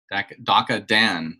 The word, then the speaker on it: Daka Dan: Daka Dan, right? That's how you say it.